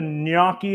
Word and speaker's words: gnocchi: can I get a niaki in the chat GN a w Ki it's not how you spell it but it is how you pronounce it don't look silly so